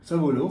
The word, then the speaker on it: Sabolo: Et puis sinon, j'adore Monica Sabolo. Je suis pas sûre pour la prononciation. Sabolo, c'est juste.